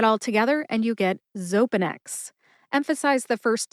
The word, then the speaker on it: Xopenex: only has three syllables they are zo which rhymes with toe pen like the writing instrument pen and X like the letter in the alphabet X put that all together and you get zopanex emphasize the first syllable